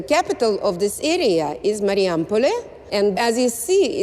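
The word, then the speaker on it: Marijampolė: I'm not quite sure why I've come to Mariampol. Have I pronounced that right? It's Mariampole.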